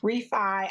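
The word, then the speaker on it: Refy: i almost said briefy i've been saying refeed refi i'm gonna get it right one of these days like my brain is i don't know what's up it always wants to say it wrong re-fi beauty brow products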